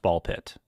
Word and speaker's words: BALL x PIT: Yeah, it's it's canonically pronounced ball pit according to the Oh, is it? Yes. Which is very confusing considering the X in the middle. Ball X pit.